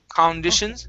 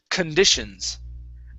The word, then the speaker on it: conditions: yeah, the stress is going to be on condish right here. Okay, so Okay. this first part we're going to pronounce like un. Okay, so it's conditions.